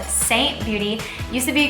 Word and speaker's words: Seint: consultant slash makeup artist for a brand called saint beauty used to be called mascara beauty but